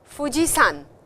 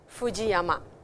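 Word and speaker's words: 富士山: Yamamoto is a name Fujisan and not Fujiama Yamai.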